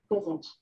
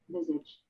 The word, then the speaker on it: visage: And then I was like, no, you can pronounce it different ways. Yeah, you can do both. I like doubled down. Okay, here we go. Visage. In British English. Visage.